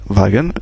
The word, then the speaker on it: Wagen: bien sûr on a vu que W se prononcit V wagen et cetera donc voilà c'esti si simple que